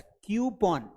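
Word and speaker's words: coupon: तो कूपन नहीं है that's not कूपन that's कूपॉन that's क्यूपॉन क्या बोलेंगे इसे क्यूपॉन बोलेंगे आप बोलेंगे सर अगर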